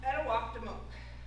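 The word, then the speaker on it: Etuaptmumk: So etimote is how you pronounce twoeyed seeing and migma edimo two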